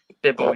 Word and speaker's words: Bibble: Right, so we're going to be reviewing the Wild Beer Company Bibble, or I think that's how you pronounce it. Bibble, yeah, that's how you pronounce it.